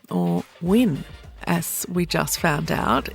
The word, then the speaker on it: Nguyen: this week we have another girl called Diana Newan or win as we just found out if you're Vietnamese that's how they pronounce n g u y n she is